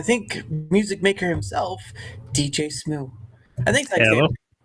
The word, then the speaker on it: Smu: Isn't that how you say it, Smu? Smooth, yeah. Smu. Oh, I was about to say Sma, and it's like, I don't know if he wants to go that far.